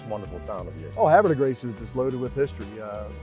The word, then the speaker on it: Havre de Grace: We locals call it Havre de Grace. I mean, confuses the French a little bit how we pronounce it, but yeah, it's how you pronounce it locally.